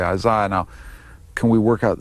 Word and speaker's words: Isaiah: The correct way to pronounce this name is? Isaiah.